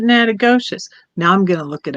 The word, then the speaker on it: Nacogdoches: more time no okay it's nakedish that is in louisiana it's nakadocious that's in texas hmm i thought you pronounced it natagocious now i'm gonna look